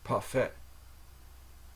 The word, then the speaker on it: parfait: if you get a parfait from McDonald's it's pronounced paret and then a i n i in like